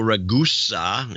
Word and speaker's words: Ragusa: Michael Ragusa in Tustin, California. His name is pronounced like Vegas. Vegas.